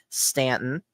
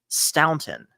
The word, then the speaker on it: Stanton: There's Stanton, which is the correct one, Phil, Mhm, versus Staunton. mhm. Right. So, I mean, both I think are perfectly legitimate ways to pronounce that name.